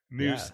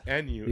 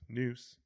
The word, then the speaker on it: Nuss: That's Noose, N-U-S-S. the old Twitter That handle. is, remember, that's how it's pronounced, not Nuss. Noose, hanging with the Noose Coug.